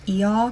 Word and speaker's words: Io: I will say for IO, if you're going for like that ancient pronunciation, it's going to be more like E, but I do think if people just look at the name, they're going to default to Io, which is like an acceptable pronunciation. It's just the more modern one.